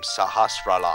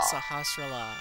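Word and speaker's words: Sahasrahla: get the Pegasus shoes from the wise men sahasa that's how you pronounce his name sahastra la sahastra la okay I I should remember it now Power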